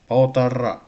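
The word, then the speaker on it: полтора: Poltara. It should be like that. Poltara. Last syllable stress.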